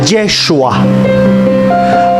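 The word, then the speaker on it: ישוע: Curiosamente, cuando llevan el nombre de Jesús en griego, Jesús, cuando lo llevan al hebreo, que se pronuncia Yeshua, cuando sacan el número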